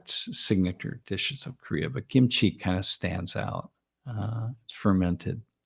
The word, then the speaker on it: kimchi: You say it's with a K, kimchi, but but it's pronounced between a K and a G, sort of kimchi.